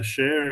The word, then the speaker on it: Shea: As you pronounced my surname perfectly, it's Cher, as you mentioned, and